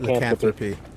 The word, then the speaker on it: lycanthropy: Lycanthropy.